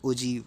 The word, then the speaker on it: ogive: तो the term ओजाइव is pronounce as ओजीव, ओजीव pronounce करते हैं, ठीक है।